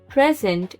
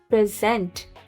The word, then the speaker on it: present: बट when I am stressing on the second syllable which is sent, and I am pronouncing it as present.